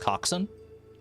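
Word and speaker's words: coxswain: It's pronounced coxin.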